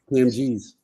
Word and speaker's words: Kam 'Geez: How do you pronounce it? Kam Geez.